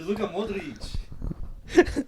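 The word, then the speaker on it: Luka Modrić: It's Luka Modric.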